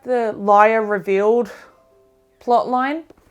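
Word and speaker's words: lire: get like 5 million liar I think it's pronounced yeah so this starts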